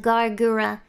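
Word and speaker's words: Gawr Gura: my name is just gal gura a lot of you guys probably pronounce it gargura which is fine i guess that's acceptable i suppose but i pronounce my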